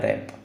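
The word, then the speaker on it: wrap: है उसको है ना ये रैप की स्पेलिंग यहां पे बच्चों गलत हो गई है ये डब्ल्यू आर एपी होता है रैप ठीक है तो वर्ड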